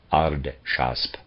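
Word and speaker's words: Ardschasp: gush tosp zarathustra's defender aard shast is pronounced is spelled a-r-d-s-h-a-s-b arden shasp and gush taspes g-u-s-g-u-s-h-t-a-s-b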